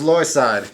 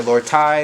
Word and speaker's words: Lordside: telling your name sure my name is lloyd side and if you can't pronounce that i'll spell it l-r-d-s-i-d-e a lot of people will say lord ty lord fight they don't even notice in my name that's happened before where